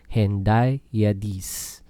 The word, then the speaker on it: hendiadys: Ang Hendiyadas or Hendiyadees, mas kilala sa Hendiyadis. Ang pag-pronounce, Hendiyadees.